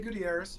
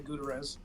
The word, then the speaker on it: Gutierrez: super excited that Gabrielle that you pronounced my name correctly it's a rare treat um even though is a common name you'd be surprised how many people say gz um I am a